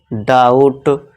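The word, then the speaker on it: doubt: इसी तरह देखिए टी से पहले फिर से बी आ गया। तो यहां साइलेंट हो जाएगा। तो इसे क्या पढ़ेंगे? डाउट।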